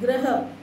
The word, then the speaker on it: ग्रह: ग्रह, ग बिल्कुल धीरे से बोलो, ग्रह।